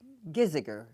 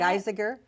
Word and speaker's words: Giesiger: Let's start with Giesiger. Hi, Annette. Geisiger? Giesiger. Giesiger. Not an easy name to look at and pronounce, but you get it straight for Giesiger.